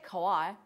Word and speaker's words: kawaii: Anyway, so there's your, do you pronounce it kawaii?